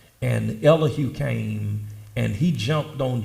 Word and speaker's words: Elihu: younger of the four his name was elahu some scholars pronounce it elijah and elihu came and he jumped